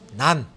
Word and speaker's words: NaN: 정확한 계산은 정수를 사용해라 자 난이라고 읽으시면 되고 nan이라고 돼 있죠 난 어난 어 난이라고시면 돼요 어은 약자입니다 약자 숫자가 아니야